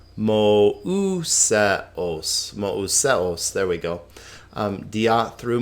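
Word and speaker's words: Μωϋσέως: Mouseos, we talked about this. Remember what that's called? Diaresis. It's that strange accent that means give this thing its own syllable. Mouseos.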